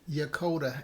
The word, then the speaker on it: Yokota: Jonathan, pronounce that Japan place again? Yokota Air Base.